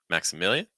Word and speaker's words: Maximilian: Maximilian. Notice how weak the consonants are. It's like Maxa, and then million, million. We make that into 2 syllables. So instead of million, it's just million, million, Maximilian, Maximilian.